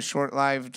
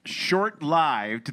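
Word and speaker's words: short-lived: ] the pronunciation short short lived the second syllable rhyming with hived is more consistent with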